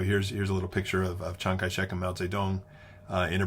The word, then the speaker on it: Chiang Kai-shek: Your textbook sometimes calls him Jiang Jie-shi, but that's using sort of standard Mandarin pronunciation, and that's not how he pronounced his name. He pronounced it Chiang Kai-shek.